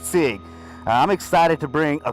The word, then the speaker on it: Sieg: His name is pronounced Sieg.